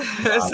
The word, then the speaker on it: hvala: So Hvala. I have to like, wait, Hvala. hvala. Yes. Okay, I'm going to say to the viewers first, follow for watching. Please subscribe and watch some other episodes. And hvala Rok for being in the show today and